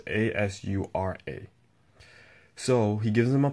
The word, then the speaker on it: Asura: Pretty much, you find out that Naruto is pretty much a reincarnation of his son, Ashura. I think that's how you pronounce it. Ashura. It's Asura.